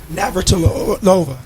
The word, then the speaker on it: Navratilova: Navratilova.